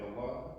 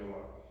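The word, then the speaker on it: الله: like I was saying Allah is it has the H of the end so it's important to to make that a thing to pronounce that as much as you can abdah is servant of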